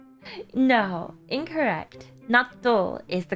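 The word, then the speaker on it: 納豆: Natto is the correct way to say it.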